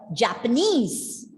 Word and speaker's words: Japanese: No, Japanese. See, where is the stress given? It's given at the end, second syllable.